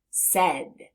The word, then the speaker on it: said: tap those sounds the first sound s next sound e last sound D said said let's do it